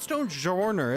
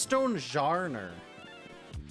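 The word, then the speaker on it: Stonjourner: And they said no it's not stone jourer. It's stone jer.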